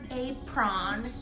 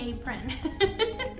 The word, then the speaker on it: apron: It's not a prawn, it's apron. People keep telling me that I'm saying it wrong, so I have to learn how to say it.